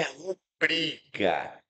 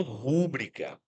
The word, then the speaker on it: rubrica: Elas não têm acento, então não são proparoxítonas. Por isso, a pronúncia correta é recorde. Recorde. E a pronúncia correta é rúbrica. Rúbrica e não rúbrica.